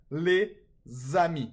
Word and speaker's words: les amis: Okay, the S in les is usually silent, but in a liaison it's pronounced like a Z.